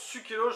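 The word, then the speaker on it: Sucellos: Sukelos, maintenant je le prononce Sukelos, je ne vois pas comment le prononcer autrement.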